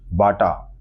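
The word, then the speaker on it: Baťa: है प्रसिद्ध जूता कंपनी बाटा चेकोस्लोवाक की है वहां इसका उच्चारण बाचा किया जाता है जब अमेरिकियों ने पहली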